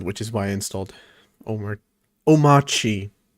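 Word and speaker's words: Omarchy: All this just to test out Hyperland, which is why I installed Omachi. The R is silent.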